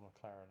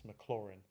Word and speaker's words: Maclaurin: McLaren, like race car McLaren. It's not McLaren, it's Maclaurin. Maclaurin. Like, not like chlorine, chlorin. Like bin, dustbin, rin, Maclaurin.